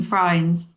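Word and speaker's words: Frijns: We've got Sebastian Buemi, and we've got Robin Freins, rhymes with Heinz.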